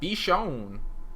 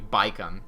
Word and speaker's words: Bichon: I knew for sure it's not gonna be Baikon, because their pronunciation is not at all like English.